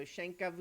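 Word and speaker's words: Shankhabhumi: We were sent to Shangabumi. Is that how you say it? Yeah, the BH is a little bit like a V, so Shankavumi. Shangabumi.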